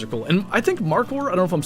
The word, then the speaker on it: markhor: And I think markhor, I don't know if I'm saying it right, it's like mark like the name mark, m a r k, h o r.